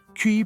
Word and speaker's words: Chi: types on Chi Earth Chi pronounced key or Earth was known